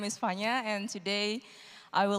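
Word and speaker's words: Vanya: could say and so fania here where it's v-a-n-y-a but the v is kind of pronounced like an f uh is going to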